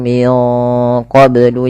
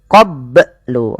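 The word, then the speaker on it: من قبل: Wanu min qoblu yastaftihun. Kemudian melafal qoblu ini bnya harus dipantulkan karena ia ada bacaan qalqalah maka bacanya adalah minqoblu.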